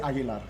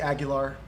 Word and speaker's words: Aguilar: Well, I say it Aguilar, but you could say Aguilar.